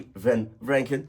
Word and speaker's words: Vranken: Vranken.